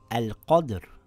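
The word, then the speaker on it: القدر: For example, the Ra takes a sukun based on the rules of stopping. The letter before it has a sukun, and it's not a ya sakin. The letter before that has a fatha. It reads as al-qadr, and here it reads as khusr with a heavy Ra.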